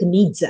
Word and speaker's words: Nietzsche: is a german philosopher called frederick nietzsche frederick needs if i'm pronouncing it correctly what he said is we